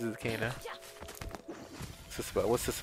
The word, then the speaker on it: Kena: is powerful be careful kana kana did you hear that barrow he said kana i want to go this way though oh no so it's cana for some reason it's cana but at least he